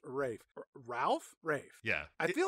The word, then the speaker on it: Ralph: ray Fiennes which but why is his first name pronounced Rafe when it's spelled Ralph well because he's British